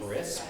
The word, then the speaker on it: Krisp: Crisp. Crisp. Yeah, it's spelled KRISP.